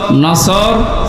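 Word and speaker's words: نصر: আয়াতে না তিনটা সূরা তিন আয়াত বিশিষ্ট আসর নসর কাউসার তার ভেতরে একটা পড়েছি এটা তেলাওয়াত শুদ্ধ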